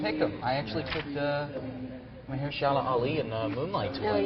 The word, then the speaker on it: Mahershala Ali: How do you pronounce that? Mahershala Ali.